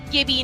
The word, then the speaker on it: Gibby: posed to you was now is a Gibby or jibby because English is really tough language right and it is a lot of exceptions a lot of rules and names and who knows but apex tracker our apex underscore tracker has given me the definitive answer says hi no argument here it's Gibby not Jimmy if you pronounce his